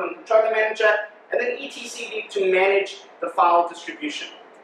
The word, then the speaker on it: etcd: Some people pronounce it etcd, but also some people pronounce Linux Linux. So it's etcd, and it's a distributed file system, allowing you to actually make changes across the cluster.